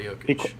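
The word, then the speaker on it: Jokić: Jokic is just Nikola Jokic. So you do say the knee, right? It's Nikola Jokic.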